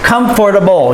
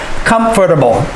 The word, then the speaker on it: comfortable: comfort able comfortable or we can say comfortable comfortable comfortable we can cut it some people say comfortable but i encourage you to say it the proper way to make sure that it's very clear comfortable practice saying that